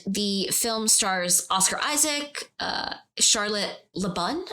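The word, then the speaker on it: Charlotte Le Bon: film stars oscar isaac charlotte le bun i think is how it's pronounced and christian bale so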